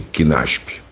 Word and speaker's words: CNASP: Só corrigindo uma pequena informação, a sigla do coletivo pronuncia-se CNASP.